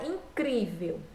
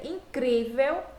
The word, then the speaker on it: incrível: forte é a última a palavra incrível vejam que aqui eu tenho a última sílaba penúltima sílaba e quando eu faço essa pronúncia incrível eu vejo que esse Chris é a sílaba mais forte então se a penúltima